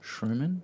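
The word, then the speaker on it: Shermann: bur tan now the how do you say your last name now Sherman Sherman Sherman there you go see M yeah double n Sherman double n there we go that's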